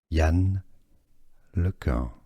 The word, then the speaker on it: Yann LeCun: French, American, computer scientist, French pronunciation, Yann LeCun.